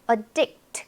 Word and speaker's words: addict: 그 다음에 addict. 그러면요, 동사입니다. 중독시키다, 몰두시키다. 역시나 강세가 addict에 있다 보니까 앞에 이 A는요, 이런 소리. addict. 이렇게 약하게 발음이 됩니다.